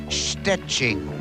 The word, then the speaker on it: Szczecin: Miss Poland, Joanna Gopinska would love to become Miss Universe, perhaps if only to teach people how to pronounce the name of her hometown in Poland. It's Szczecin.